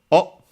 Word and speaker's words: を: Then we have the object particle O also uh written and uh sometimes pronounced as W pronounced as such in careful speech and also for example in singing but in usual speech it's O instead. because of course it's easier to pronounce.